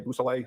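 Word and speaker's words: Beausoleil: Could you say that name again and spell it for us? Yes sir. It's trooper Busel.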